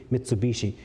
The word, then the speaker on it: Mitsubishi: Japanese mitsu means three hii in the Japanese when they merge together they pronounce that H is a b Mitsubishi mitsui means water chestnut